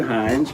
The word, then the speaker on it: Hines: Now, interestingly enough, I have a guest in the studio today, and he is Hines, pronounced just like the ketchup, spelled a little different.